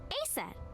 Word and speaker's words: Aset: But in ancient Egyptian, it's pronounced closer to Ise or Aset.